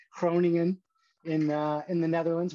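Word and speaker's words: Groningen: she went to use my best dutch pronunciation here cronian in uh in the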